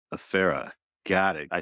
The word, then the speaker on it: Efere: So the way I tell people to pronounce it is F like the letter, air like the stuff around us, and then just R, Efere. Efere.